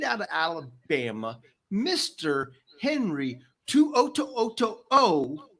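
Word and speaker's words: To'oto'o: Henry Tuoto. And that O is not for oh my God. It is for O.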